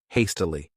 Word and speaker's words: hastily: This word has 3 syllables, and the stress is on that first syllable, hastily.